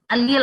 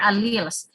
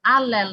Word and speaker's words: allele: Summary nga ni allele, allele or alleles. This is correctly pronounced as allele. Diri allele, ha, diri allele or alleles.